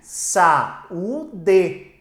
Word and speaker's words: saúde: Quando você tem a palavra saúde, observe, saúde. Você tem aqui uma palavra que tem, ó, a penúltima sílaba tônica.